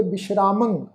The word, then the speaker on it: विश्रामं: गुरु साहब फरमा रहे आ हे कामं नरक विश्रामं विश्रामं ससे पैर साध संगत बिंदी लगा के पाठ उच्चारण करांगे विश्रामं बोह जोनी परमावण है चित हरणं हरणं नाने उत्ते टिप्पी की मात्रा नास को उच्चारण करांगे जी।